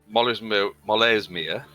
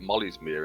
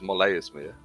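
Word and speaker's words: Molaesmyr: But it's Molesmere. Apparently that's how it's pronounced because that's how Mercer pronounces it.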